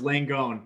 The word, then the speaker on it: Langone: name i appreciate samantha no it's langone um the italians might say it's you know pronounced different but langone's what i'm going with so the italian